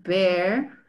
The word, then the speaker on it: bear: Clear es como con un sonido de la I, ¿no?